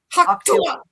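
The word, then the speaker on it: Hawk Tuah: Hawktua.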